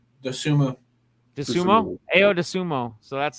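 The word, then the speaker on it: Dosunmu: uh chicago bulls boy ayo how do you pronounce his last name the sumo the sumo ayo de sumo so that's like his thing they should play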